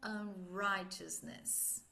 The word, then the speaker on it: unrighteousness: Lembrando que o GH é mudo, então fica right, righteousness.